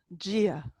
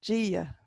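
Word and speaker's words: Dia: The word for God is Gia, because that D is sitting next to a slender I, so it gets a J sound. And you reach for the I with the fada, Gia.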